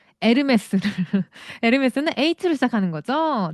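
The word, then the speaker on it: Hermès: 프랑스는 H는 묵음입니다. 어, H는 그냥 안 보인다라고 생각하셔야 돼요. 아예 발음이 없어. 아예. 그래서 유명한 거 있잖아요. 그 유명한 브랜드 에르메스를.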